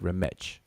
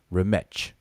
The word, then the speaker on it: Remech: Everybody in the chat right now can pronounce the word Remech. The TCH sound like the CH in church. Remech.